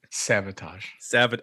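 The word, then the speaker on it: Savatage: y and t uh savadage is that how you pronounce that j sabotage sabotage sorry it looks like sev i pronounced it i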